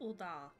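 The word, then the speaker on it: Ul'dah: Uldar.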